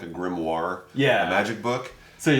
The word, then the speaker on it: grimoire: understand what it was they Mis pronunced it the as the grimy instead of the grimoire so that's how we